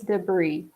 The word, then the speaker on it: debris: gonna write them down space debris there is a silent s here but it's basically garbage